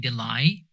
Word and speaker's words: delay: The sound is A at the end, not I, delay.